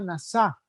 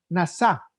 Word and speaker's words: nasá: Déjenme decirle rápidamente, la palabra para prueba en hebreo se llama nasá, como la NASA, pero nomás acento en la A, nasá, que significa literalmente usted y yo vamos a ser tratados.